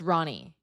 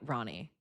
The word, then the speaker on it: Roni: Well, Rick Dom, would you pronounce Veronica or not? Because my name's Veronica, and so it's Roni. Roni, Ronnie.